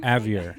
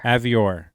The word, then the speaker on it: Avior: Avior. You got it. Avior. Avior. Like Dior.